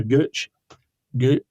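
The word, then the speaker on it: Peter Gøtzsche: this stuff like there's a guy called Peter g g that's how you pronounce his name who set up the um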